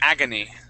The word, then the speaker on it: agony: So it's agony. Okay. I like this with the accent with the accent at the very beginning.